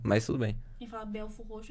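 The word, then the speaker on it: Belford Roxo: É Belfort Roxo, não é Acho que eu falei Belford o quê? Roxo. Belford, isso, eu falei É Belfort Roxo. E se escreve Belford, mas não é.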